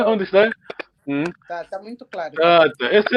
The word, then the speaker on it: tata: Tata. Essa é ortografia fonética. Não se escreve assim. Okay. Só T-A-T-A, mas assim é vogal longa. A gente não diz tata, é tata.